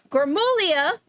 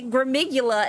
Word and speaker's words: Gullia: Uh, my friend Anthony, Anthony Gullia, I keep hearing people say Gmigula and I'm like, that's not how you say it.